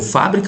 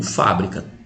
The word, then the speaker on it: fábrica: Você leu fábrica ou você leu fabrica? Tá escrito fabrica. Agora, se eu colocar o acento, aí virou fábrica.